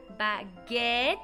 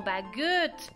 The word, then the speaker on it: baguette: debería de pronunciarse e pero si sigue después una doble consonante como es el caso en baguette el sonido de la e se cambia por el sonido e entonces no es bagut es baguet tenemos igual en la